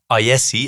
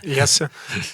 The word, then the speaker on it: IESE: He also completed an MBA at IESE, if I pronounce it correctly. Yes, you do. Do I? Yeah, IESE.